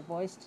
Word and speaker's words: voiced: practiced learning about the voiced sounds and the voiceless sounds. How do you pronounce V-O-I-C-E-D? We had the T sound at the end.